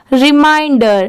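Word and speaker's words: reminder: की आ रही है इसे मिन नहीं पढ़ेंगे माइन और डी ई आर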